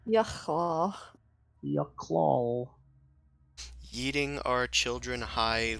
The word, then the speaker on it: Yochlol: This is a Yochlol. They're Cool. known for Can their... you repeat that, please? Bless A you. Yochlol. How do you Bless you. spell that? Y-O... Okay. Phlegm. Um, Y-O-C-H-L-O-L. LOL. Yucklol. Yucklaw.